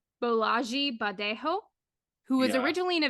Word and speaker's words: Bolaji Badejo: It was definitely not it was not a American name, Yeah, or I believe the correct pronunciation is Bolaji Badejo, who was yeah, originally a visual artist, and he literally was 7 feet tall.